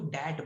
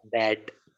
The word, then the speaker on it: that: पहले तो तू डैट बोल रहा है. क्या बोल रहा है? डैट. डैट नहीं बोलना है, दैट बोलना है. बोल फिर That. प्रोनाउंसिएशन सही से कर. That.